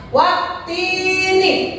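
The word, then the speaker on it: وَالتِّينِ: Wattini. Wattini. Cara membacanya langsung dimasukkan ke huruf ta.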